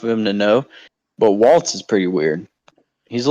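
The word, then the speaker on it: Walz: uh you know the thing how do you pronounce the kamala's VP candidates last name Waltz okay is he as bad as people say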